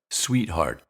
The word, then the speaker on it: sweetheart: let that fool you we hear it twice in the word sweetheart once at the end of the syllable sweet and again at the end of the word heart sweetheart sweetheart and of course